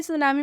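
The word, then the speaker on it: tsunami: बाद से सी है लेकिन फिर भी सुनामी में टी साइलेंट हुआ है क्योंकि यह एक्सेप्शन में है सुनामी का मतलब होता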